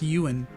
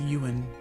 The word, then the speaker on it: Ewan: Or apparently it's pronounced Yuan. Apparently it's pronounced Yuan. U like the sheep, I guess.